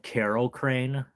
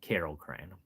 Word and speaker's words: Kerocrane: So Carol, which is the sound frogs make in Japan, kero kero, and then crane, like the crane. So I'll spell it again. Kerocrane. Carol Crane.